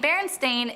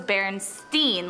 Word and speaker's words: Berenstain: despite what many remember the name Berenstain is spelled with an a like stain but many including myself would put money on the fact that it was Berenstein like with an E the first time I